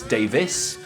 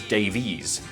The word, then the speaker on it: Davies: I've done extensive research on this, and it turns out that Ray and Dave actually pronounce their surnames differently. Ray says Davis and Dave says Davies.